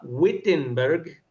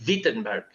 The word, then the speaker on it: Wittenberg: Toda la vida yo lo pronunciaba Wittenberg, pero los alemanes pronuncian la W como V. Entonces ellos dirían Wiittenberg.